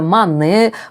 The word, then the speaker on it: Monet: And the Monet brand is pronounced Monet. And the last T is not pronounced.